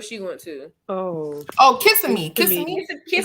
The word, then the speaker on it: Kissimmee: went to oh oh kissing me because he needs a kiss what are you saying that's how you say it because you're kissing me yeah she went to